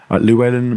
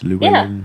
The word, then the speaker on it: Llewellyn: I'm Luwellyn. Luwellyn.